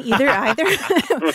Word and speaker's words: either: I would say that either use is fine, either. we pronounce that word differently, and both are fine.